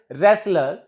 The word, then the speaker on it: wrestler: Next is wrestler. LER. T is silent before LE.